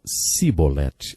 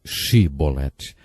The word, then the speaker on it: chibolete: regiões do nosso país eles não conseguiam pronunciar o som CH e por isso diziam simbolete ao invés de chibolete degolou 42 mil homens porque